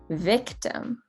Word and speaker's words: victim: found on sixth avenue victim is an interesting word because it has two types of i sounds in the beginning when we have e that is our a sound which we talked about earlier and then towards the end we have a very interesting ah sound what i like to